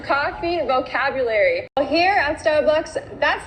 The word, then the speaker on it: Starbucks: logo that they have the word is not pronounced Starbucks Starbucks we need to make the r sound and say star starbu bcks how do we make this R sound take your tongue and pull it back so the back of